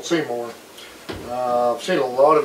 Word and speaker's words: CEYOMER: m u r and most of the videos i've seen on is pronounced seymour and to be a